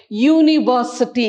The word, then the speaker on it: university: sounds like that right university it sounds y o u when it sounds like y so we use the